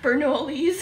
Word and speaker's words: Bernoulli: Bernoulli's.